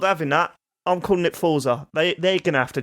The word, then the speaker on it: Forza: It's Forza, like fort. Thank you. All right. I'm not having that. I'm calling it Forza.